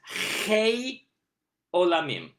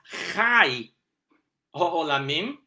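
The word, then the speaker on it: חי עולמים: called Tzerei, but as Chai Olamim, which is life, but with the Ah vowel, called Patach.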